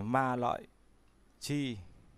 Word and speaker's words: Ma Lợi Chi: Tay ấn của trời Ma Lợi Chi cũng đọc là Ma Lị Chi.